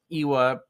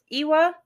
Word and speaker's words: lwa: Iwa is how we're saying it. I'm not sure that's how you say it, but it's LWA.